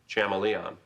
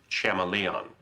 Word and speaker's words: chameleon: His name might as well have been Daniel Chamalon. Um, Professor, uh, do you mean Chameleon? Betty, I'm pretty sure it's pronounced Chameleon.